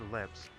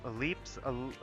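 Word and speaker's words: Elpis: For me, I was, you know, I was just sightseeing at Port Ellipse. I I'm pronouncing this wrong again. Alip. I I I keep calling it Ellipse.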